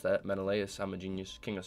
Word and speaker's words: Menelaus: cutscene we're here menelaus i know how to pronounce that menelaus i'm a genius king of sparta i got